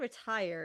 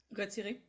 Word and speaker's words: retiré: It's not retire, is it? Is it a dance? Yeah, it's Oh, at rest. RETIRE, but with a little Yeah. Retiré.